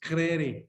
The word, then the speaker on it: Crary: Crary, I think is what it is. Like Americans say it. It's Scottish. It's Crary.